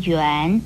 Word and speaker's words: 垣: 元字的国语注音是吁安元二声元，元就是